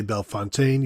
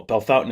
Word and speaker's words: Bellefontaine: Tavian Saint Claire from Bellefontaine you may say belfontaine you may say Bellefontaine well Bell Fountain is correct so you should only say Bellefontaine